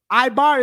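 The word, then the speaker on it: עבר: Ibar is his actual name.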